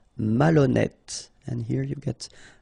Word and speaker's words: malhonnête: Malhonnête. Okay, remember, H doesn't exist, so malhonnête. Don't insist on the final E. Malhonnête.